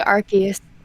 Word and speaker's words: Arceus: I've heard people pronounce it different ways. Nintendo Arceus? Yeah, I say Arceus.